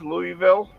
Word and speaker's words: Louisville: I know it is I know it is Louisville um when I was living in the South